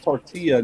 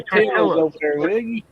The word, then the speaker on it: tortilla: It's tortilla, not tortilla. It's a tortilla. It's a double L for tortilla.